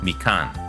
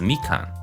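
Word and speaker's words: みかん: wrong all this time because we got the pitch accent wrong. But I think it's mikan, so it's high then low as opposed to low then high.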